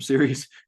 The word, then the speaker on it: Ceres: I say Ceres because cereal comes from Ceres.